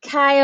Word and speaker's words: chi: called this chi-squared value chi squared not chi c-h-i it is spelled c-h-i like your hair products but it's not chi it's chi like kai omega the greek letter chi so and it's not like chai tea either it's not chai tea